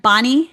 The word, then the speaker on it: Bonney: your name right, Anne Bonney. It's Bonnie. Said it right.